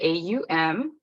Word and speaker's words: Om: in the wellness world is pronounced kind of the AUM the roots are in